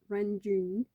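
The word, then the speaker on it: Renjun: now because ranjun i i always said run friend john now that i say it like that now it just sounds so weird off of the tongue it's like no it's renjin because like i said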